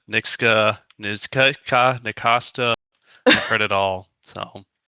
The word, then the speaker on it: Nksta: It's Nksta, Nksta.